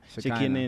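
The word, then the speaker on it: Shekhinah: Is it Shakaina or Shekina? Shekina. and Topsy.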